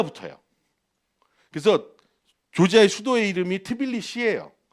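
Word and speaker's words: თბილისი: 그래서 조지아의 수도의 이름이 트빌리시예요. 원래 트빌리스인데 얘들은 자음으로 끝나는 발음을 싫어해서 무조건 이를 붙여요. 그래서 트빌리시라고 부르는 거예요.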